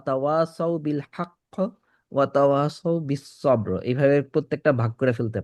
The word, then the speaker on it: بالصبر: وتواصوا بالصبر وتواصوا بالصبر এই দুইটা স যখন উচ্চারণ করেন বিস বিস বিস বিস بس بس সিন যেন না আসে, সদ ব্যাক অফ দ্য টাং উঠবে, বিস বিস বিস সবর বিস সবর صو বিস